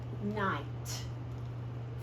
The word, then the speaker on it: night: long sound and then we mark out the gh because it is silent it is silent night thigh bright okay so that